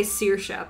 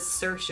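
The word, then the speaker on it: Saoirse: i love her sirisha she says it's uh cersei that just depends on like regions i would say searsha but she says cersei when i first read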